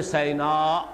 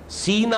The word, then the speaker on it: سینا: لفظ آیا ہے طور سینا، سینا اور سینا دونوں اس کے تلفظ ہیں۔ سینائی پیننسولا، آج کل